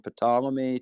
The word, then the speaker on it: Ptolemy: how we went from ptolemy to kepler and copernicus yo the p is silent it's totally he doesn't